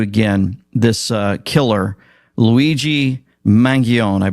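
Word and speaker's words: Mangione: this uh killer Luigi mangion I bless that's how you say his name mangioni um ivy league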